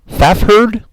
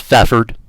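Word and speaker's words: Fafhrd: at the silver get excuse me but how do exactly do you pronounce that faff herd just fathered thank you they walked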